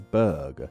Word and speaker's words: burgh: eat it too as the city's name uses the bur spelling but is instead pronounced as Berg that H really should not be there yet for a variety